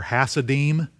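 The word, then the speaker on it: Hasidim: with alliteration is for hassadim i'll spell it and this is what they were actually called i didn't make this word up h-a-s-i-d-i-m the hassadine h-a-s-i-d-i-m it sounds kind of like hasidic are you familiar with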